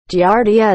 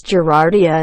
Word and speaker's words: Giardia: Doesn't drive me nuts, but one of the hosts of this podcast will kill you always mispronounces Giardia as Gerardia and the other one always gives her shit for it.